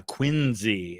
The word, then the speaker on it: Quincy: You can vote for Monroe or John Quinsey Adams. And they do pronounce it with a Z sound. Uh, Quinzy is how they pronounce it up there.